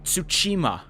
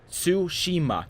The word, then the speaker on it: Tsushima: being possible I know people like ghosts of Tsushima Tsushima ghosts of suit su